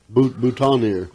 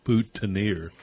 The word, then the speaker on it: boutonniere: And then after You that, I got to thinking, we probably say it wrong, actually, because I don't think we all actually say it out, Boutineer.